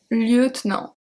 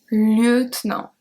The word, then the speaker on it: lieutenant: Un lieutenant. Un lieutenant.